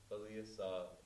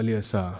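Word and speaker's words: balīyasā: Just so people know, because on the Baliyasa, the I is actually a long I. Yeah. So Baliyasa.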